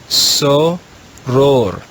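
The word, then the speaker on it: soror: the first word in the red row is so ror that's the latin word for sister the second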